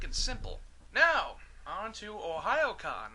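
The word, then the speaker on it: Ohayo Con: Now, on to OhioCon. OhioCon, if you're not aware, it's a convention in Ohio, and it's spelled O-H-A-Y-O Con. Ohio being the Japanese name for good morning.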